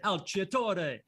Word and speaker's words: Alciatore: Pretty close, unless you want to be true to my Italian heritage and say Alciatore.